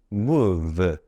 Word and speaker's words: move: ree 이렇게 발음이 되네요 그리고 알파벳 m m 한국말 무 므 미음으로 발음되죠 그리고 알파벳 5는 5는 5 이렇게 발음할 수 있는데요 여기에서는 우로 발음이 되네요 그리고 알파벳 uv는 발음되죠 비읍 그리고 영어 단어 끝에 있는 2는 발음하지 않으니까요 move는 move move 이렇게 발음할 수 있네요 그래서